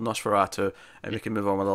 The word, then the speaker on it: NOS4A2: comments telling us after as nos 42 what she pronounced count like a license plate this made a sale word is Nosferatu yeah yeah so you know we can redeem ourselves here we can acknowledge it's called Nosferatu and we can move